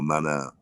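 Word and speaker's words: Maná: Mana or Manu or Mana, that's it.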